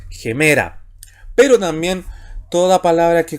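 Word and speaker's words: ἡμέρα: de izquierda a derecha, debe anteponerse un sonido gutural J, así se lee, anteponerse a la vocal. Por eso es gemera.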